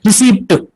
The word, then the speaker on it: receipt: That's why we sometimes tend to say receipt. Receipt. Receipt. Ta sound actually combined, but there is no pa sound in the actual pronunciation.